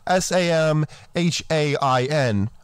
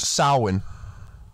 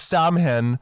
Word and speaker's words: Samhain: Now, if you look up the spelling, it's S-A-M-H-A-I-N, but it's pronounced Samhain. Anyone who says Samhain doesn't know what they're talking about, and they didn't look it up.